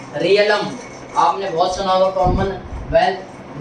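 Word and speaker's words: realm: दो चार पॉइंट और है, रियलिज्म और चीज़ें ऐसी है, रियलम आपने बहुत सुना होगा कॉमनवेल्थ नेशन के बारे में, रियलिज्म ऐसे करके बोल देते हैं, तो ये गलत प्रोनाउंसिएशन है।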